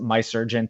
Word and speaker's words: Mahserejian: It's a play on the last name Mahserejian, but I pronounce it My Surgeon to anglicize it.